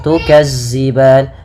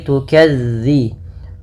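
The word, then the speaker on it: تكذبان: mafal dalal hati-hati teman-teman dilafalmelafalkan dalalnya jangan diganti dengan huruf Zai jangan tukazziban tapi tukadzi bagaimana cara melafalkannya ujung lidah ujung lidah menempel dengan gigi serari atas gigi serari atas sehingga dia pelafalannya terdengar bukan Za bukan Za makaban kemudianalan ada madukun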